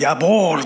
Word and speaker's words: Jawohl: 야 그리고 군대에서는 야볼 그래요. 야볼은 뭐냐 하면은 yes sir 이런 느낌이에요. 야볼. 그것도 JAWOHL입니다. J가 Y 발음을 냅니다.